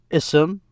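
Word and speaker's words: اسم: noun notice this ah here i say ism because i start with it pronounce it separately i say ism but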